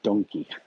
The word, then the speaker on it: Donki: Uh, we spell it Don and then Quixote. They spell it Donki, and everyone knows it as Donkey.